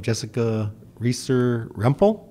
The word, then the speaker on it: Jessica Reesor Rempel: We have a very special guest visiting us, and goes by the name of Jessica Reesor Rempel.